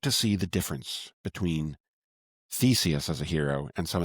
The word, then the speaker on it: Theseus: Theseus, and even his name almost sounds like the word thesis.